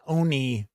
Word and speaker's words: oni: Or No, I think it's oni is how it's pronounced, now that I think about it.